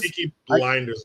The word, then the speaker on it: Peaky Blinders: Peaky Blinders. What the hell? I had the name wrong for like three years and I I